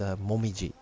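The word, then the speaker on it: もみじ: as the word is maple tree, which is pronounced momiji.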